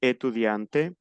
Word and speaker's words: étudiante: Para el femenino se pronuncia la T final.